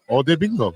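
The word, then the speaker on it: Odeyingbo: O bingo.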